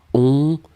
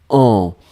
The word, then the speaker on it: en: Et c'est vraiment la seule différence, ça va être la nasale. C'est pas on, mais c'est en.